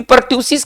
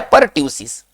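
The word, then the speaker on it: pertussis: है हु फिंग कफ इसको कहेंगे परसिस परट सस ठीक है ना इसका जो उच्चारण है व है परट्यूसिस बच्चों इसका राइट आंसर होना चाहिए परट्यूसिस परट्यूसिस का एक अन्य नाम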